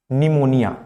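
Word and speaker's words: pneumonia: बीमारी होती है निमोनी निमोनिया निमोनिया निमोनिया की स्पेलिंग होती है ये पी एन ई यू एम ओ एन आई ए जिसमें पी क्या होता है साइलेंट होता है पी और टी स्कूल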